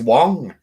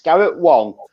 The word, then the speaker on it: Garrett Wang: Yeah, it's written Wang, but it is pronounced. When we saw him at Sci-Fi Weekender, he was very explicit at saying that it's Garrett Wong, because he found out